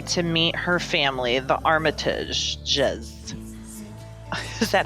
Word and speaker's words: Armitage: And Rose has invited him to meet her family, the Armmitage. Is that how you pronounce it? That's Armitages.